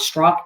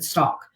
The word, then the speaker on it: Stauch: get it right people it's not struck in stock left to walk to